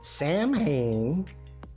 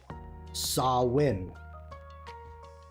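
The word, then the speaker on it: Samhain: Sam Hayne is pronounced Sawin.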